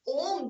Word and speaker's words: ओम: ओम chanting में हम क्या करेंगे, ओम, the symbol ओम is made by 3 syllables, अ, उ एंड म, अकार, उकार और मकार। मैक्सिमम स्ट्रेच दिया जाएगा मकार पे।